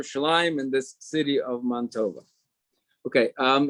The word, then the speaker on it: Mantova: jews called mantuva in in italian mantua is montova so they used to pronounce it mon tova the good man right